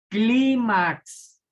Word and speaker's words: clímax: Fíjense ejemplo, clímax, acento en la penúltima sílaba, por lo tanto es grave.